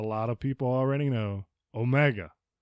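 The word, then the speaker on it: ωμέγα: And then the last one, which a lot of people already know, omega. This one, also a very light G, not omega.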